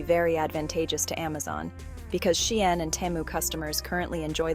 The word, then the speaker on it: Shein: Yes, Shein is pronounced Shein and not Sheen.